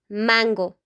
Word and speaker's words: mango: In English, you say mango, okay? In Spanish, you have to say mango, mango, mango. Okay, in English, it's like, oh, you mango.